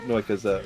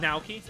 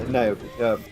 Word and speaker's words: Naoki: I probably pronounce it Noika's Noika Hashimoto or whatever, the singer. Basically. Yeah. I know what you're talking. Naoki. Yeah, Naoki.